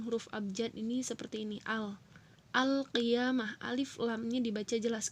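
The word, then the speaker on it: القيامة: dibaca jelas dzohir ya atau ini udah juga al-qiyamah hai alfi ama oh iya mah kalau dituliskan dalam bahasa indonesia atau bahasa eh latin atau tulisan latin tulisan huruf abjad ini seperti ini al al qiyamah alif lam nya dibaca jelas kedua huruf alni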